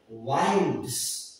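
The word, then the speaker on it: winds: भी यूज करते हैं, विंड्स पढ़ते हैं, विंड्स। उसके जगह यहां पे वो विंड्स नहीं है, यहां है वाइंड्स, और वाइंड्स का मतलब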